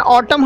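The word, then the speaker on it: autumn: ऑटम, इसका pronunciation ऑटम हम लोग करते हैं, जहाँ एन साइलेंट होता है और हिंदी मीनिंग पतझड़।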